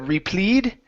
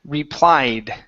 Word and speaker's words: replied: Instead of replead, it's replied. Replied.